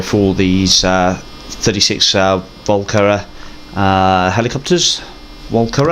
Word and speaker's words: Walkera: Walkera, I think that's how it's pronounced, W-A-L-K-E-R-A.